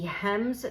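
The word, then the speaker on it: Hemnes: Ikea this is the hems dresser I actually it's spelled h m NES wasn't sure how to say it so I looked it up and it's you don't say the N so apparently this is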